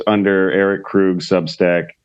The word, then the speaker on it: Krug: your name oh it's a e-r-i-c-k-r-u-g it's actually pronounced Krug yeah you're pronouncing it wrong not correctly incorrect